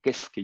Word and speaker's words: Keisuke: Para esto una de mis tiradas era de que yo había conocido a un doctor, el famoso doctor Keisuke Yamada, o Kesuke Yamada, como se pronunciaba en japonés su nombre, el cual lo había conocido en el 80 y aproximadamente 86, 87 a él.